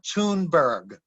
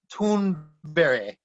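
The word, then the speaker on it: Thunberg: they say uh greta toonberg and she's like so how do you say it in sweden and she said greta tunde so um yeah um apparently you pronounce the g like a y there's an actress a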